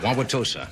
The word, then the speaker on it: Wauwatosa: an Indian are you an Indian Oh Wauwatosa did I pronounce that correctly yes thank you very much